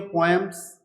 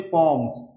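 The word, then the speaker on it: poems: देखो ये जो वर्ड मैंने यहां पे लिखा है पी ओ ई एम एस इसकी दो प्रोनंसिएशन होती है। कुछ लोग इसको बोलते हैं पोएम्स। कुछ लोग बोलते हैं पोम्स। ये दोनों ही करेक्ट होती हैं। तो आप इसको पोम्स भी बोल सकते हो, पोएम्स भी बोल सकते हो।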